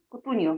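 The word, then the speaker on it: Cutugno: Как у него фамилия читается? Кутуньо.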